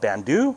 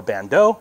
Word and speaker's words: Bando: The other belt is made by a company called Bando or Bando, however you want to pronounce it.